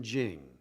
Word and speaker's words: Ching: You have Tao, you have De, which is spelled T-E, but it's pronounced De, and then Jing, and it means the book or the collection of, writing about the way, Tao, and its power, De.